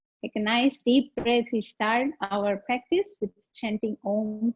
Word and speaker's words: Om: We start our practice with chanting Om 3 times. So remember the Om has 3 syllables. Oh, the longer one, and then in the end, very soft.